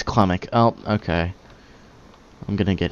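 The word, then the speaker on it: Klimmek: Where's Clemmick? Wait, do I have to. Okay. Wait, what's his name? Have I been saying Clemmings this whole time? It's Clemmick.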